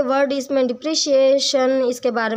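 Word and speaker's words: depreciation: डिप्रिशिएशन ये word एप्रिशिएट जैसे होता है उसकी प्रोनाउंसिएशन होती है एप्रिशिएट, ऐसे ही डिप्रिशिएट है। ठीक है जी। डिप्रिशिएशन डिप्रिसिएशन जो प्रोनाउंसिएशन है वो गलत है, तो आप भी अपनी प्रोनाउंसिएशन दुरुस्त कर लेना।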